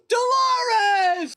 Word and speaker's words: Dolores: Dolores! Because it rhymes with clitoris.